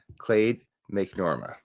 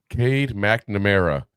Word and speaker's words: Cade McNamara: Wasn't sure whether to start McCarthy or Clade McNorma at quarterback. Who taught you how to read names? Cade McNamara.